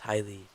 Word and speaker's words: Haley: years old except for Haley pronounced highly who turned 18 a